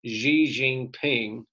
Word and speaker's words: Xi Jinping: party leader is also the country's leader currently xi jinping that's how you pronounce that xi jinping is both the general secretary of the chinese